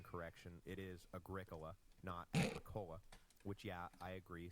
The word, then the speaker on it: Agricola: that agrica and yes thank you for the pronunciation correction it is Agricola Nota which yeah I agree sounds like some